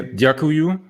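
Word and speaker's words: Dziękuję: And I should actually say Djakuju.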